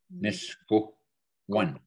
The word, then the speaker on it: Miskoan: Miskoan, right here, the nose, eh? Miskoan. Misko, one. One, not two, one. Misko one.